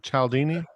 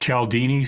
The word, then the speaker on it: Cialdini: i got from that caldini like chaldini uh it's yes pronounced chaldini cia yeah but people